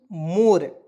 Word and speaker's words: more: ठीक है ना, तो देखिएगा एम का उच्चारण म के रूप में, ओ का उच्चारण ओ के रूप में, आर से होता है र, तो मोर पढ़ेंगे और यहाँ पे ई को हम लोग साइलेंट करते हैं।